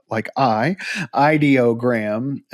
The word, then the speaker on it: Ideogram: on the book that said it's Ideogram is how you say that.